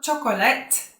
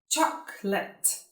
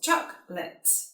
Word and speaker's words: chocolate: Chocolate. It's not chocolate, chocolate. 2 syllables, chocolate.